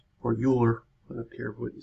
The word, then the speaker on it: Euler: numerical method by Leonhard Euler or Euler, I don't care what you say, by using Euler's method. There's some debate on how to say his name, but eulogy, we don't say eulogy, so.